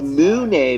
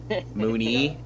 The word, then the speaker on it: Mooney: Maybe it's Monet because he's a bull rat. JB Moo. Perhaps, or just JB Monet because French. Oh. Mooney. Really? Pronounced Mooney? Wow. Somehow all of those choices were somehow wrong.